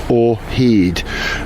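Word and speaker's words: Yma o hyd: research the significance of that here's how you spell it y m a a or letter O he h yd a or heed which is a Welsh expression of resolution really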